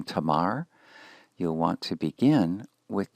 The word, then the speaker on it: Tamar: The first syllable then is ta, the second syllable begins ma, and concludes with the consonant in position 5, the R consonant, producing the name tamar, tamar.